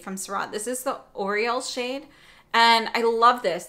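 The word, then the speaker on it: Aureole: So if the Hourglass highlighters are too much for you, then the Syrah and Oriole might be a great alternative. And that's spelled A-U-R-E-O-L-E. So not like Oriole the bird.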